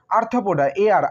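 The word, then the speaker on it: Arthropoda: আর্থ্রোপোডা, ARTHRO, আর্থ্রো, PODA, পোডা।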